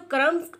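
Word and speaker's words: crumbs: तो बच्चों, क्रम्स में जो बी है इसकी साउंड प्रोनाउंस नहीं होगी, बी इसमें साइलेंट है। इसको यानी कि हमने क्रम्स नहीं पढ़ना, क्रम्स पढ़ना है।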